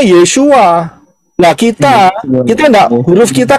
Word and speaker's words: Yeshua: Pengucapan di dalam bahasa Indonesia adalah tertulis Yeshua, betul? Ya benar, karena orang Israel ngomongnya Yeshua.